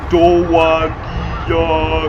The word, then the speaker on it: Dowagiac: Obviously pronounced Dowagiac.